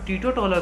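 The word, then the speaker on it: teetotaler: ये टीटोटॉलर है, इंटोटॉलर नहीं, टीटोटॉलर। तो टीटोटॉलर का मतलब होता है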